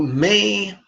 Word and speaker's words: me: But we pronounce this syllable may just like the month, or just like the request, Mother may I.